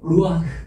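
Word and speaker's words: רוח: 영이라는 말은 히브리어로 루아흐 이렇게 발음합니다.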